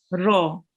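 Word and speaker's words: ر: Do you know why the ro here is in red? Because it's a thick letter. Very nice. So it's a thick letter, and we have to pronounce it with the mouth rounded. Ro.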